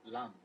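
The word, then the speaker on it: लं: Starting from the the bottom chakra, lam, l a m, then vam, ram, yam, and then ham, then om, and then silent.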